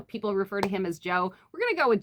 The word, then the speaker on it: Jo: pronounce his name, but I'm going to go with Joe because I think his name is John or Jonathan.